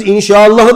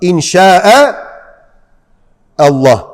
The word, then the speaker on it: İnşa Allah: İnşallah diyorsunuz. İnşallah. Oradaki hemze başka. İnşa Allah. İki kelime var orada. Ama inşaenin sonundaki hemzeyle Allah lafzının başındaki hemze yan yana gelince birbirine katılıyor. Öyle okunuyor.